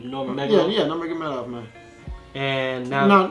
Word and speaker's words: Nurmagomedov: Nurmagomedov.